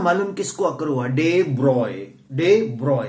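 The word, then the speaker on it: de Broglie: डे ब्रॉय. कई लोग ना इसको डे ब्रॉगली बोलते हैं. यार ये गलत है. इट्स नॉट डे ब्रॉगली, इट्स डे ब्रॉय.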